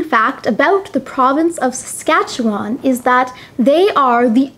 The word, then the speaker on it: Saskatchewan: beside alberta is saskatchewan saskatchewan is probably the most difficult province name to pronounce saskatchewan saskatchewan the capital of saskatchewan